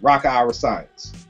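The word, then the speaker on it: Rakaa Iriscience: you say his name rocka acience rocka acience r a k a a IRA science so think of Science and just say Ira in front of it Rocka Ira science but yo dude is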